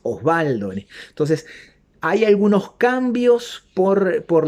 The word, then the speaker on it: Osvaldo: de una B corta, me ponen la W y yo lo pronunciaría Oswaldo y es Osvaldo.